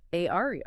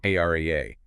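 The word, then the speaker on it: Aira: This is exactly why we use Aario. AA and that's spelled A I R A, right?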